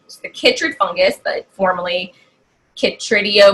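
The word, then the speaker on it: chytrid: want to make sure I say it right Kittridge fungus but formally kicked radio mycosis and it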